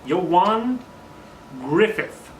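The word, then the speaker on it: Ioan Gruffudd: learned how to say this yo yo won you won Griffith as this Warburton shows up in other words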